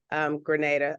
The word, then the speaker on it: Grenada: And I've seen pictures of Grenada.